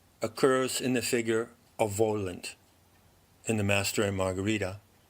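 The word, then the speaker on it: Woland: card the symbol of the double V pronounced Vohland or Warland and in the opening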